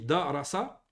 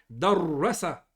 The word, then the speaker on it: darrasa: Si on ne met pas de shedda et on dit darasa, ça c'est étudier. Avec la shedda, c'est enseigner. Darrasa.